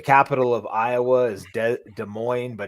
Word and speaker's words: Des Moines: of iowa is dead des moines but it's spelled des moines like those people jefferies des moines people get it right it's des moines like they're don't pronounce either s and you're good iowa